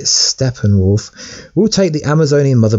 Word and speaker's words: Steppenwolf: Steppenwolf, or Steppenwolf as some people say, but I believe you pronounce it Steppenwolf, will take the Amazonian mother box from Wonder Woman's mother.